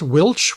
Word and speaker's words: which: Remember how we said that which, the man which I saw, was once pronounced Wilch with an L?